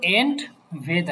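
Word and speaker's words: entweder: না এন্ড ভেদা এটার উচ্চারণ হবে এন্ড ভেদা এইযে এখানে এন্ড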